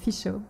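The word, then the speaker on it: Fichot: a MySpace um and my last name um is is spelled f i c h o t and it's pronounced fishu so fishu fish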